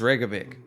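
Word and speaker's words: Reykjavík: It's Reykjavik. Is that the one that's spelled like That's the one a that lot blew of up.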